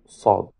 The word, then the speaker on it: ص: Буква САД образуется при приближении передней части спинки языка к передним зубам, когда кончик языка касается передних нижних зубов.